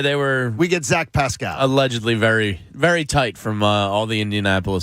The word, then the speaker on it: Pascal: really being aggressive here zach pascal as i was told to pronounce it yesterday isn't that from there isn't that from the uh from one of the disney movies yeah it's from uh tangled from tangled pascal uh